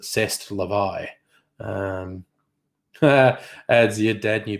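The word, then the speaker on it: c'est la vie: i've ever had um say la vie or as the french actually pronounce it cest levi um as your dad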